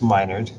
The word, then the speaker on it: Minard: It's pronounced like I'm your nerd.